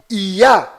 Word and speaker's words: יה: fazendo menção ao altíssimo a pronúncia delas sempre é ia esse aqui é o